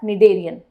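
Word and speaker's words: Cnidaria: Next आ जाता है second phylum called as निडेरियन। ठीक है भाई, सी वापस साइलेंट है, याद रखना ना, ये निडेरियन वगैरह मत बोलते बैठना। तो निडेरिया, दैट इज निडेरियंस भी बोल सकते हैं, and they are also called as सिलेंड्रिटा।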